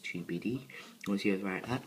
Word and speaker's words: Tubidy: So it's pronounced TUBD.